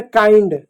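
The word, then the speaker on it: kind: यानी कभी भी आई के बाद एन डी हो तो उसका उच्चारण भी आई जैसा होगा। जैसे काइंड। अब काइंड में काइंड है फाइंड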